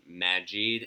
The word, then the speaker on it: Majid: I have a friend Majid, and I know a woman named Sahad. They pronounce those names emphasize the first syllable.